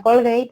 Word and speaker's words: Colgate: Entonces, él va a hacer anuncios sobre todo de productos de bajo coste, como son Colgate, que tened en cuenta que se pronuncia Colgate, ¿vale?